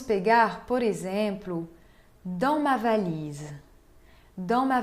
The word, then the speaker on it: valise: Podemos pegar, por exemplo, dans ma valise. Dans ma valise, valise. Né? Se insiste no I na penúltima sílaba, porque a última sílaba contém um E mudo.